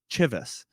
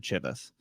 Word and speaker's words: Chivas: name is Chap CH so I thought it was Chivas and the whole episode I said Chivas and it turns out it's pronounced Chivas and I just had